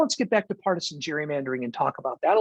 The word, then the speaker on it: gerrymandering: It's pronounced the hard G. So occasionally people who want to show that they really know what they're talking about will say gerrymandering instead of gerrymandering. And from a technical standpoint, they're right.